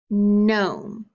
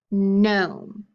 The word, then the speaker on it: gnome: Gnat, gnaw, gnome. Can you repeat them with me? Gnat, gnaw, gnome. That's right, you hear that n sound at the beginning again.